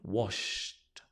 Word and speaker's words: washed: washed washed the dishes so notice here it's a ta T sound mopped but this one is a D sound washed washed right good um